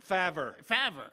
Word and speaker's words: Favre: Favre.